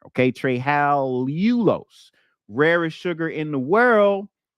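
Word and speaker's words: trehalulose: sucrose to trulos okay not not TR Talos there's Talos but tryal ulos another little syllable up in there okay tral ulos rarest sugar in the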